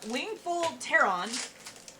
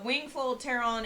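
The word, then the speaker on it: Wingfold Pteron: uh okay we have wingful tehran because i'm not pronouncing the p uh which is like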